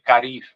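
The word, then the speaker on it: karib: En tupi guaraní se dice carib, K-A-R-I-B, carib.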